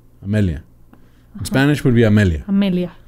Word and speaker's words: Amelia: heart booyah right so her first name is pronounced emilia with an e but it's spelled with an a and her last name